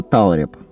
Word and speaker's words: талреп: Посмотрел в интернете, эта штука называется талреп. Ударение именно на А. Талреп.